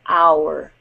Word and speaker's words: our: So you can see these words here, are and our, are so close. But you get the U in the our. So are, our.